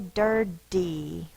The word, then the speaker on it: dirty: really a t dirty we don't tend to say dirty we say diry but it is spelled with a t t but because of the way that we say it's called coarticulation The Sounds arounded are influencing the sound and we tend to